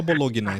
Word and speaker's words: Bologna: é que bolo Opa boa pessoa fala Bolonha eu falo Bologna Então ninguém fala ninguém fala Bologna então não tem problema